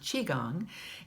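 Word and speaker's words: qigong: that Sher suggests is to practice something called chiong now Chiang is actually spelled Qi G NJ but it's pronounced Chiang in Chinese Chi means energy it's the energy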